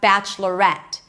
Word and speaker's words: Bachelorette: And on the contrary we have bachelorette. Bachelorette. So we start the same bachelorette. Here we do pronounce an e sound at the end and that's where the stress lies.